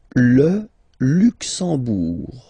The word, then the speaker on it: Luxembourg: Le Luxembourg, okay, final G not pronounced, and then when you combine this M here, you get the sound en. You don't pronounce the M at all, it's this nasal en, okay? Le Luxembourg.